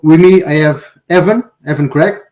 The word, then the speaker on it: Evan Craig: So with me I have Evan, Evan Craig, right? Is that is that how you pronounce? Yep. Uh, I'm Evan Craig.